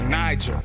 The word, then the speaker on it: Niger: you to a river Niger soft G like J and pajama below the S hell